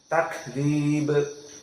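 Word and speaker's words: تكذيب: ada naas yang keluar jadi yang benar dibacanya dalam keadaan tak ke jeroyan annafs takziib takib namun dengan cepat jadi tidak begitu keras kaknya takzib takzib maka yang salah dibaca dalam keadaan ditelan tidak dibuang nafasnya Bagaimana takb takzib maka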